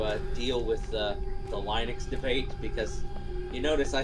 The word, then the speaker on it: Linux: name is Lenfold and I pronounce Linux Linux." And I'm like, "Okay." So, yeah, I just pronounce it good old Lennox. Yeah. And I go with I go with Linux.